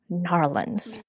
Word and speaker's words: New Orleans: We are here coming to you from XeroCon, from what I say New Orleans, but I've heard from my Uber driver from the airport to here that it's pronounced Narlands. So if you are here in New Orleans, say Narlands and you are good.